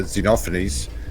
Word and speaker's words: Xenophanes: I think it's pronounced Xenophanes, but I'm not actually sure. Yeah, Xenophanes.